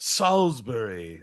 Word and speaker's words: Salisbury: I think it's Salsbury. If you're checking in with Salbury for 100. All right. Over to Gooners. Uh, it's pronounced Salisbury.